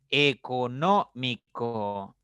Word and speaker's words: económico: Económico. Económico, una palabra de 5 sílabas, pero la mayor fuerza o la mayor intensidad, el acento está en la tercera sílaba, entonces una esdrújula.